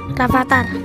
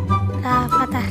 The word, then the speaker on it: Rafathar: Rapatar. Coba dong eja kata Rapatar. Oke. F A T A R udah iya. Dibacanya Rafathar.